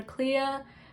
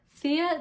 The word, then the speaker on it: Thea: Now for Clea Thoreau, is it Clea Thoreau? Not Clea, Thea Delacroix.